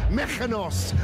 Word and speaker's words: Mykonos: he was on honeymoon in a place called mechanos or that's how they say it in liverpool he was in mykonos with his wife rachel his